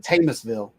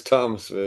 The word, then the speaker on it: Thomasville: Did I say that right or is it Tamusville? No, it's Thomasville.